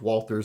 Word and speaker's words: Walther: just reliable like most walters are and i'm not saying valtter so shut up for people out there that are getting on me about the pronunciation uh like most walters